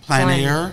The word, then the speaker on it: plein air: Plein air.